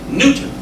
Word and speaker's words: Newton: Secondly, the name of our fair city is pronounced Newton as in Isaac and the apple.